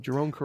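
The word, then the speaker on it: Jeroen Krabbé: Jerome Crabbe, and that's how you pronounce his name, Jerome Crabbe.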